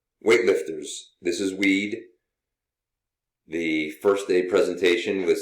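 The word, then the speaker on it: Wied: capacity screen as well my name is pronounced weed erect as you can see and i'm also known as weed that's w-i-e-d period even though phonetically it looks like weed my office is nrb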